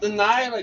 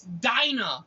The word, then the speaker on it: Dinah: It's not Delilah. God damn. That's how it's spelled. It's Dinah.